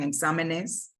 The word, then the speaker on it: exámenes: You will need to add an accent, for example, here, examen, exámenes, examen, EN.